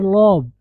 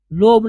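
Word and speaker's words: lobe: एयर लॉब, लोब नहीं लॉब, okay, आवाज ऊपर जाएगी, एयर लॉब का मतलब कान की लो।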